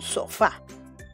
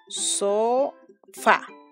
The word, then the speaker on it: sofá: Muy bien, es un sofá. Vamos a separarlo en sílabas. Sofá.